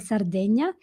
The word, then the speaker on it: Sardegna: In Italian it's called Sardegna and it's a very very ancient civilization and language and culture.